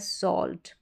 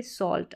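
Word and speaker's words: salt: always हो गया और यह है सॉल्ट क्या है सॉल्ट यानी ए एल के कॉमिनेशन में ही एल साइलेंट आ रहा है यहां पर टी है तो भी हम यहां पर सॉर्ट करके नहीं पढ़ रहे सॉल्ट अब इसको साल्ट नहीं पढ़ेंगे सॉल्ट तो इस तरीके से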